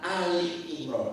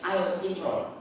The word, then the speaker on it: Ali Imran: Nyebut surat ketiga dalam Al-Quran adalah Ali Imran, bukan Al Imran. Kalau ikut Al Imran, kasihan deh, salah.